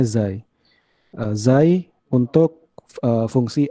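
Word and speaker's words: ξ: Tentukanlah ekspresi persamaan displacement wave, jadi menggunakan, itu kalau tulisannya C, kalau di Greek letter, tapi saya baru search tadi, pengucapannya Xi.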